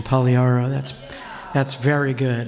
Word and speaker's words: Pagliaro: David, you even got the Italian pronunciation, Pagliaro.